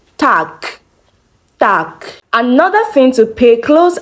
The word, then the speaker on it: Tag: But when you're pronouncing this word, you don't pronounce the G as G, but it changes to K when you are pronouncing. So you say Tag, Tag.